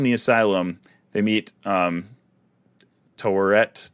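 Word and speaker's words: Taweret: they're still in the asylum they meet um toret torret is that how you say that i i'm really bad at pronouncing that no you got it i heard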